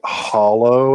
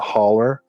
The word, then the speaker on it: hollow: and they say it hollow and not holler. Um, yikes. I mean, it's spelled hollow but it's pronounced holler.